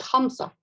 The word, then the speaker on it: Hamza: As you can see on the current slide, Sibawayh's sequence begins with Hamza, a glottal stop which is pronounced deep in the throat.